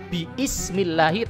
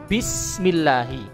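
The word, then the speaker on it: بِسْمِ اللّٰهِ: Sebagaimana lafadz basmalah, bismillahi, bukan dibaca biismillahi tapi dibaca bismillahi.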